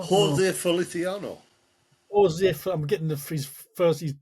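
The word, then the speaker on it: José Feliciano: Yeah, and I can never pronounce his name. Holisio, no. Jose Feliciano.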